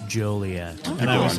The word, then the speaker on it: Joliet: the woman said even though it looks like Jolly yet and people are very jolly here it's pronounced jolet and I was like hacky as all get